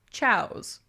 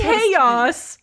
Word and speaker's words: chaos: I pronounced this word aloud as chows. Oh, I don't know. What is that supposed chaos.